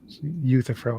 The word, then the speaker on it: Euthyphro: Euthyphro is how you pronounce that.